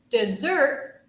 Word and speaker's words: dessert: it's a landscape desert dessert dessert has more emphasis on the second syllable so dessert is what